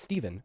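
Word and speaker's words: Stephen: So it's pronounced Steven, but it's spelled with a P. Yes, it's Pronounced pronounced Steven. I'm Steven.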